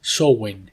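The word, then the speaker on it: Samhain: otoño encontramos a sowen aunque se escribe como s a m h a i pero se pronuncia sowen en galeo y Este es Halloween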